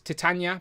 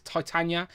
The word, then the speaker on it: Titania: A few people are telling us how to pronounce Titania by saying it's Titania, which we are We're ignoring you all. We are aware of this. Go and watch our Secret Wars stream. We have a whole debate about how it should be pronounced.